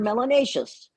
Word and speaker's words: melanaceous: If you have more melanin, you're melanaceous. Rhymes with gracious and spacious and efficacious.